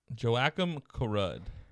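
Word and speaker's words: Joakim Karud: Rock Angel, how do you pronounce that name? Joachim Karud.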